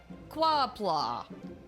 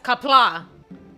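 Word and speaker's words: Qapla': Quapla. No, that's not how you say it. It's kapla. You're saying it wrong.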